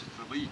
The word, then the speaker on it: Felice: In Italian, the name's pronounced Felice.